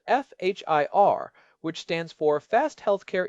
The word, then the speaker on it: FHIR: There is a new standard that has really taken over in the last few years called FHIR which stands for fast healthcare interoperability resources. It is pronounced like fire.